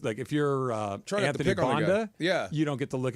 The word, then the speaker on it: Banda: Is it Bonda or Banda? Bonda, I believe. Just curious. Banda. I keep getting corrected. By who? How do you spell it? Banda. Thank you. B-A-N-D-A. Right, that says Banda.